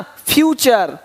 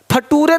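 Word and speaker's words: future: यहाँ पे देखिए क्या दिया है, कल्चर, पिक्चर, है ना, फ्यूचर। फटूरे नहीं बोलना कि देखो भाई ऐसा नेटर है तुम्हारा कि फटूरे खराब हो रहा है, नहीं, नेचर फ्यूचर।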